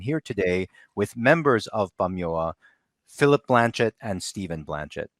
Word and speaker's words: Pamyua: And the P is a little deceiving, but it's pronounced more like a B in our language, Bamyoa. Mm-hmm. So yeah, excellent. you said it. Bamyoa.